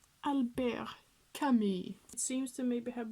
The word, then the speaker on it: Camus: That is my super perfect French pronunciation. Albert Camus.